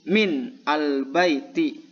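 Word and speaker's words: مِنَ الْبَيْتِ: Ketika kemasukan huruf min maka menjadi min al-baiti. Kalau kita sambung, kalau kita membacanya nyambung ya, maka akan menjadi minal baiti. Ini aslinya min, tapi kalau dibaca menjadi minal baiti.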